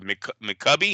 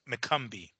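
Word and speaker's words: McCumby: This is the biggest fight of McCubby. Is that how you say it? McCumbee.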